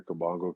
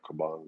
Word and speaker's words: Kabongo: i appreciate it like as a congolese person they hear kabango sometimes people make their mistake feel like kabanga or kobangi and stuff like that